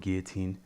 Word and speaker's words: guillotine: choke so guillotine choke you don't actually pronounce the ls in the word guillotine all right so they